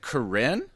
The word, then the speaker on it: Karine: okay, my name is French, so like it's not actually my name, but I prefer Karine because it's Okay. hard for some people to pronounce my name.